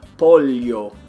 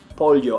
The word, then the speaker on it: pollo: They'll pronounce the double L like that. So chicken would be pollo, pollo.